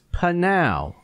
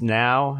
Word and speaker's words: Pnau: it yeah i know i always thought it was just now and the p is silent but when i looked